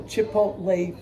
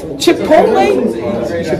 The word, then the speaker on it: Chipotle: We're going to go to Chipotle for lunch. Chipotle? Did I say it wrong? I've been saying this wrong for Chipotle.